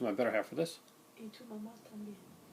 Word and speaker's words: Y tu mamá también: And it's I got to pronounce this right, so I'm going to my better half for this. Y tu mamá también. Y tu mamá también.